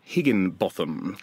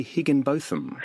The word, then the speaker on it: Higginbotham: Well, Tegan Higginbotham. Now, I pronounce that a way that I believe you prefer, but it is some people say Higginbotham.